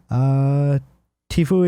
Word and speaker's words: Tfue: Tfue is pronounced Tfue.